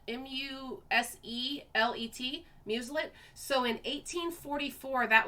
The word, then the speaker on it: muselet: it's called a i don't know if i'm pronouncing it right but it's called a muselet m-u-s-e-l-e-t muselet so in 1844 that was invented to